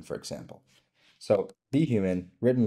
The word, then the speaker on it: BHuman: human for example so be human written like this I think most people would understand you say the letter B first and then human but sometimes it may say boomman instead of be human right so how can